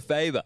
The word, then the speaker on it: Faber: Thanks to Faber. The coach. I wonder what Faber's name Faber. is. Rhymes with Saber.